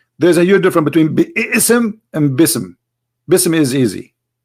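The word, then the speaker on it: بسم: say you see here you didn't say be ISM no more here they say BISM so it's not an error scribe it's an error in the pronunciation are you getting my point because they are not saying and when they recite the Quran they don't say be issome and it's written wrong no they recited BISM and I will tell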